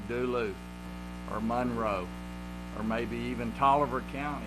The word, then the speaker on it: Monroe: Okay, so stress on first syllable. Monroe.